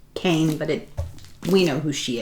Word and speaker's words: Kean: So, Leslie Kean, looks like Kean, but I do believe it's pronounced Kane, but we know who